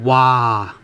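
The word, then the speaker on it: 嘩: So wow, how do you say wow? Wow in Cantonese we have wah, wah, w-a, wah, wah, wah, wah.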